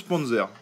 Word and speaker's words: Panzer: Alors, comme il disait PZ, ça se prononce Panzer.